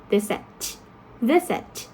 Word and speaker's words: visit: For example, in the case of the word visit, you have the first syllable stress, right?